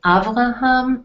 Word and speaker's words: Avraham: These are the Hebrew pronunciations, so you'll know we'll be using the Hebrew pronunciations very often. So you have Avraham and Sarah, Yitzchak and Rivka.